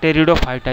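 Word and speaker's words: Pteridophyta: Actually P से शुरू होता है दोस्तों, लेकिन इसको प्रोनाउंस किया जाता है टेरिडोफाइटा। जिसे निमोनिया को आप प्रोनाउंस करते हैं वो भी पी से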